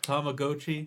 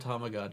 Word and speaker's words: Tamagotchi: Did you know that that's how it's pronounced? Tamagotchi. I don't like it. I don't think it's right. I Everyone has always said Tomagi.